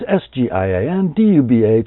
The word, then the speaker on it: Sgian Dubh: That's Sgian Dubh.